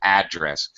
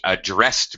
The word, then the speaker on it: address: it's that's a noun it's always address when we same pronunciation same thing the president gave an address to to the Congress same pronunciation same word however I do want to point out when we use it as a verb he addressed me notice my change in pronunciation I changed the stress from the first syllable to the second syllable he addressed me uh